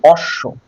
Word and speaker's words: অশ্ব: সেই বর্ণটাকে দীপ্ত করবে যেমন অশ্ব অ তালব্যয় বয় অশ্ব অশ্ব মানে কি ঘোড়া এবার দেখো এটার উচ্চারণ কি হবে অ তালব্য অস তালব্যয় ওকার অশ্ব এই যে বটা তালব্য টাকে ডাবল করলো ক্লিয়ার অর্থাৎ মাঝে আর